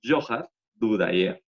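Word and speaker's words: Dzhokhar Dudayev: El líder del movimiento checheno es Johar, bueno, estos de Zohar que ven acá, se pronuncia Johar Dudayev.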